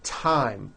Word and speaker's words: thyme: Although these next words and names are spelled with a TH, they are pronounced as if they were spelled with a normal T, like that. And these words are Thomas, Thompson, Teresa, Thailand, Thames, like the river, Esther, and thyme, which is a spice.